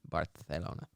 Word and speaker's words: Barcelona: mallorca and in barcelona barcelona it's the proper pronunciation barthelona all right add sweden to